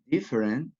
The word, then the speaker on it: different: example the world the first is every you pronounce every favorite every different different you can see there is a syllable